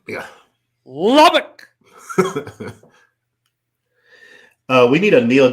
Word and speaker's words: Lubbock: Lee Davis out of Texas Lubbock am I pronouncing it right yeah Lubbock yeah Lubbock uh we need a kneel down situation so